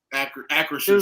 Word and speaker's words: Acrisure: But at the end of the day, you had an L coming out of Acrisure Stadium.